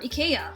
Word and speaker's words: IKEA: affordable swedish furniture chain ikea or ikea for a more proper pronunciation like a child visiting